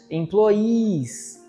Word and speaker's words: employees: E olha a pronúncia, employees. Porque quem dá um emprego, um patrão, como a gente fala em português, né? empregador é o employer com er, mas quem é empregado, é funcionário é o employee.